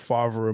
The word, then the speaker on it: Favre: One with Favre and one with Rodgers.